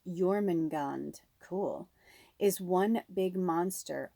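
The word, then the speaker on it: Jörmungand: So it's pronounced Jormungand.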